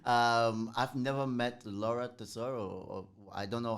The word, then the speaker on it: Tesoro: I've never met Laura Tesoro, or I don't know how to No? pronounce her Yeah, last Laura name. Tesoro.